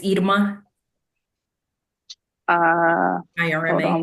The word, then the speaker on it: Irma: I always tell people it's like ear.